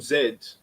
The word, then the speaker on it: Z: whole diagnosis of uh generation zed or you americans say z you don't say z but a degeneration z